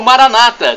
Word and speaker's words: Maranata: Maranata é uma tônica na última sílaba como dizemos nós católicos ou Maranata com a tônica na penúltima sílaba como dizem nossos irmãos separados os evangélicos o protestante Mas isso não